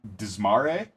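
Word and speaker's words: Dzmare: Yeah, and our main character, whose name is Mahit Desmare, is that how they pronounce it?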